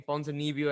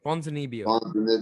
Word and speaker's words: Ponzinibbio: speaking of that card, there was one barn burner of a fight between Ponzinibbio and Baeza coming up on the main that came up on the main card.